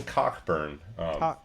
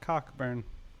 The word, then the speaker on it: Cockburn: plays the director damian cockburn cockburn yeah uh yeah and he spelled like it sounds he's the director in